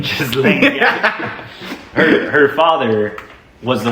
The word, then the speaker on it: Ghislaine: You pronounce her name incorrectly. Elaine. Ghislaine. Ghislaine.